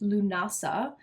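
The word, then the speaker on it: Lughnasadh: It's pronounced Lunasa.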